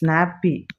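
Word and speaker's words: nappe: nappy it is sorry it's nappy it's not happy I have stated it as H nappy happy happy I just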